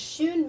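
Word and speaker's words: schön: means like already um don't get this confused with shun with the umanate as i mentioned because shoon means beautiful or pretty so if you if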